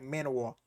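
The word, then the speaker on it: manhwa: you manho or like it's spelled m an wa. So it's like manow whatever.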